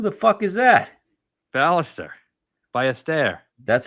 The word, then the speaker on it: Ballester: Ballester.